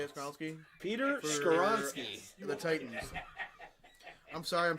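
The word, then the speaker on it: Skoronski: Skowalski. How do you say it, Skowalski? Peter For- Skoronsky.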